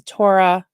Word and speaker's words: Torah: Orthodox Judaism does not believe that the Torah, how do you say it?